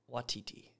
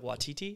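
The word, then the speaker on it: Waititi: say his name taika watiti taika watidi like a titty right he's not there but they're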